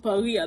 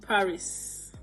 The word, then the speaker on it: Paris: for example you know the capital of France par I pronounce it par I don't pronounce it Paris because it's not English hello there are other